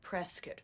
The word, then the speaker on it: Prescott: performance or two in Prescott. I don't know how far. is great, too. Um if you're a local, you call it Prescott.